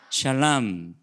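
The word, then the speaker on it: שלם: 뭐냐면 따라합니다 샬랄라 맘 샤 알람 자 어디서 많이 들어본 얘기죠 셜 암 뭐 하고 닮았어요 샬롬 하고 닮았죠 그쵸 예 같은 글자의 같은 걸지 한데 이제 발음 할 때만 모음이 좀 달라져서 샬롬 하면 우리가 뭐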